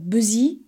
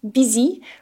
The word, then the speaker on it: busy: accent for the word busy I heard buzy so we really need to make sure we have an open E bsy for this word and a classic